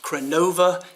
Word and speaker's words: Crenova: a look at the I guess it's pronounced Crenn OVA it's the ex PE 498